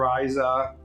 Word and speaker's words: Ryza: Do the English people say Riza or Ryza? Because in Japanese it's clearly Ryza.